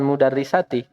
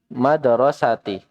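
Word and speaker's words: مدرسة: Bukan mudarrisati. Mudarrisati bu guru. Tapi madrasati. Sekolah. Madrasah.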